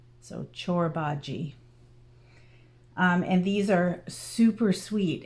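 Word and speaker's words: Çorbacı: So it's spelt Corbaci, but it's Turkish and it's pronounced Corbaci. Yeah, CH for the first C and a soft J for the last C. So Corbaci.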